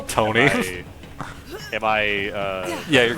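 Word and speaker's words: Toughneigh: It's pronounced Tony. Tony.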